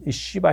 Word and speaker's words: 시바: 강렬하게 기억할 수 있는 쉬바 신 어 욕이 아닙니다 이건 그냥 어 쉬바 이렇게 그 씨바 그리고 이 시바